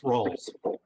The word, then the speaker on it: Rolls: It's Rolls. Rolls. Rolls. Think Rolls if that rings a bell for you.